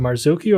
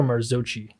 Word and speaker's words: Marzocchi: new Fork from marzuki is it marzuki or marzochi I believe it's marzuki marzuki that's what they were calling it it's originally in to probably not pronounced Italians call it yeah Mari yeah so